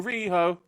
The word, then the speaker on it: Riho: listen listen though listen riho has a two-syllable name there's already a very simple chant lined up for her which is let's go reho okay like that's that